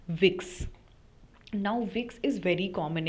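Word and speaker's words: Vicks: have talk about it कि जो वी है उसका प्रोनंसिएशन एफ होता है इंग्लिश का एफ जो है that is the pronunciation that German we takes so the late letter we is pronounced as एफ ठीक है तो जो ब्रांड नेम है वो विक्स के जगह विड have sounded like an equivalent of the English F word तो जिसके वजह से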